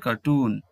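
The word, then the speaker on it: cartoon: এরপর দেখো কার্টুন, এখানে শেষের সিলেবেল যেটি রয়েছে সেটিতে স্ট্রেস দেওয়া হচ্ছে, তাই এটি উচ্চারণ হচ্ছে কার্টুন।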